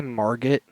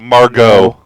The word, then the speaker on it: Margot: Wait, did you just say Margaret? Margaret. That's how she pronounces it. Margot.